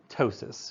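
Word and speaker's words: ptosis: what if it fails then you get tosis with a silent P so you get this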